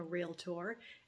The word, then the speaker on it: realtor: say realtor you say hopefully you say realtor with two syllables there are two syllables in realtor we are not real